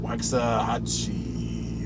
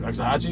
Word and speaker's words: Waxahachie: Waxahachie. Waxahachie, is that how you say it?